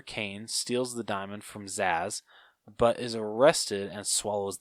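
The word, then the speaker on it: Zsasz: I forget how to say his last name Zaz Zaz thank you to retrieve a diamond embedded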